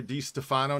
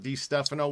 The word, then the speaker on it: DeStefano: And I think that's how we're pronouncing it here, DeStefano, not DiStefano. We voted That's on the that proper last. way. Everybody Yeah, slaughtered DiStefano.